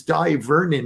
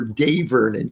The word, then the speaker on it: Dai Vernon: His name was Dai Vernon, or Day Vernon, depends how you want to pronounce it.